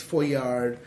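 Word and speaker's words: Foillard: And of course there's Lapierre, there's Foyard. Foyard is spelled how?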